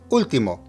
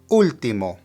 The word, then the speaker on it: último: Now notice that there's an accent on the very first letter of the word. Whenever you see an accent in a word that has more than one syllable, that is where the emphasis of pronunciation needs to be placed.